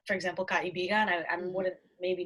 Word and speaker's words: kaibigan: Okay, whenever you see two vowels next to each other, you have to pronounce both. Okay. Like this, to, o. Probably one belongs to the other syllable and the other one is on its own, like totoo. Okay.